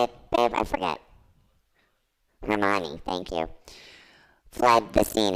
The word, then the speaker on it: Hermione: Hermione, thank you.